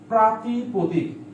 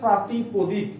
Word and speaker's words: প্রাতিপদিক: এটা উচ্চারণটা হচ্ছে প্রাতিপদিক, বানানটা লক্ষ্য রাখবেন। আমরা অনেক সময় বলি প্রতিপাদিক, প্রতিপদিক, প্রাতিপাদিক, অনেক সময় বলি না, ভুল বলি। মনে রাখবেন এটা হচ্ছে প্রাতিপদিক, ঠিক আছে?